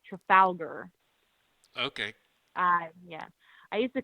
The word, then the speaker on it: Trafalgar: actually found out it's pronounced Trafalgar. Okay. Yeah. I used to call it Trafalgar because I didn't know how to pronounce it, but it's apparently Trafalgar.